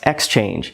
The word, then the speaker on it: Xchange: Yes, Xchange. It's pronounced like exchange, but it's spelled a little bit differently.